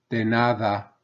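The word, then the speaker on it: de nada: por por gracias gracias denada denada remember that D is pronounced like a soft th not like a hard D like we say so you don't want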